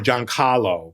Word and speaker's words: Giancarlo: name at all no she called me John Carlo um or John Caro because sometimes she didn't roll her R sometimes